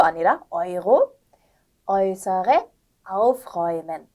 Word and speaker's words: Euro: 네, neu, Euro, 유로 아니라 Euro, äußere aufräumen. 네, 그래서 네우 이런 게 아니라 나이라고 읽는 거 I 발음 주의해 주시고요. 이제 유로 아니고 아이로였습니다.